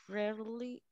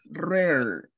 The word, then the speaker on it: rarely: Repeat the pronunciation rarely. All right, thank you. Okay, we say rarely. Right? It's like a difficult R.